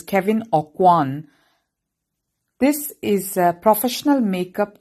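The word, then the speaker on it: Kevyn Aucoin: So I Googled the pronunciation. It is Kevin Awan.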